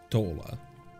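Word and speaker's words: Y'shtola: So when you pronounce Ishtola, it's Ishtola. So it's really together. So it should be Rush Shish or Rush Shishmo or Rishishmo. It's not really like a pause.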